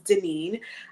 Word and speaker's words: Daneen: my name is my given name is Denine I do go by for those who cannot pronounce it and I uh like the bio